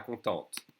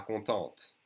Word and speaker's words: contente: For a boy, a girl would say pas contente. Okay? We'd add an E and we pronounce the T. Pas contente.